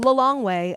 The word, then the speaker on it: Lilongwe: Lilongwe. At least that's how I pronounce it. I had that teed up to ask you. Well did? done. Oh, you did? The way I remember is I go, take Lilongwe home.